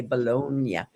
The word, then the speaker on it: Boulogne: I'm thrilled to introduce Pat Ballone. And, um, I'd like to say it like a Frenchman, Pat. I'd like to say Bologna.